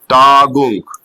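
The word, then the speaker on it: Tagung: इनफॉर्मा स ऐसे ही अगर कोई वड यू एनजी पर खत्म हो रहा है उसकी साउंड रहेगी उ जैसे टा गुंग तो टा गुंग देखो टाग उंग की साउंड रहेगी य एनजी जब एक साथ आएगा तो उसको हम उंग पढ़ेंगे टाग ऐसे ही आईजी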